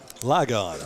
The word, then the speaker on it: Ligon: ask a few people how to pronounce that school's name lie God I've already said Legend once is like on homeschool